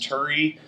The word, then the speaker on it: Turi: name uh it's uh it's pronounced Turi like don't worry we're in a hurry to get Medicare for